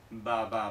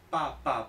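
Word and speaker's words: 爸爸: Por ejemplo, papá, en chino se dice papa, papa, no baba, baba no, papa, papa.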